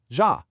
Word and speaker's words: ja: And finally, the J sounds just like the English Y. So the word for yes, ja, is simply ja.